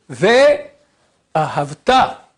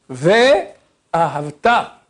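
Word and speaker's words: וְאָהַבְתָּ: On met l'accent sur la première syllabe et la dernière. V ahavta. V ahavta avec une petite chanson.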